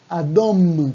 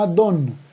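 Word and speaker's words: אדום: Siguiente color, el rojo es adom, adom, también con M al final, adom, y no adon, porque cuando decimos adon, es otra cosa distinta, adon con N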